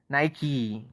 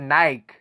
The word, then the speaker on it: Nike: you watch reality tv nike yeah so that's how we pronounce it i'm surprised you you guys pronounce it nike i'm surprised you guys